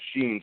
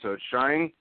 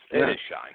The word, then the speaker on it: Shine: I've always pronounced it sheen so shine it shine but that that works everybody thinks it's Sheen but yes it is shine hey I'd rather be